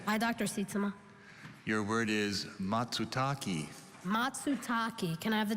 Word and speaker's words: matsutake: because it because it is difficult to harvest matsutaki can you repeat the pronunciation matsutaki or can you repeat the definition a large brownish edible japanese mushroom having firm flesh and a spicy aroma matsutaki matsutake can you repeat the language of origin japanese